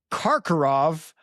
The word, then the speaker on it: Karkaroff: It's Kakarov. I will try my my whole life I've just said Kakarov.